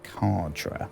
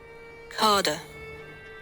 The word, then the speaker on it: cadre: A cadre.